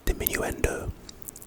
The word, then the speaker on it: Diminuendo: Anyway, pronunciation, Diminuendo.